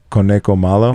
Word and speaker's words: Conejo Malo: Conejo Malo.